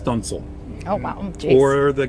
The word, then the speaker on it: studding sail: And then Pride of Baltimore has a couple of sails called studding sails, Studding, but it's pronounced stunsail.